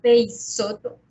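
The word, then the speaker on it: Peixoto: Se llama Peisoto. Peisoto se escribe con X.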